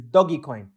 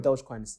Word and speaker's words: Dogecoin: Well, the apparently the correct pronunciation is Doggy Coin, but some call it Dogecoin.